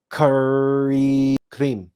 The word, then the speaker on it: krim: a o and cream now this are is supposed to be rolled so we can't roll our RS so we can't we can't demonstrate it for you but it would be phonetically it would be something like this K cre EO that should